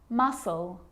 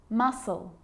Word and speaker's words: muscle: s like in these very common examples they're quite tricky muscle muscle scissors fascinate scene scenario muscle scissors fascinate seem scenario so that's the silent sea so what about the